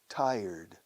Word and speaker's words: tired: Tired. Tired. Tired. ¿Os cuesta pronunciar tired? Es como decir un taller mecánico. Taller. pero acentuando la primera sílaba. Tired, tired. Luego sonido de T o D, tired, tired, tired, tired, tired, tired.